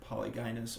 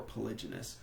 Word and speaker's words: polygynous: And this most often results in polygynous, or so there are 2 ways to pronounce that word, polygynous or polygynous.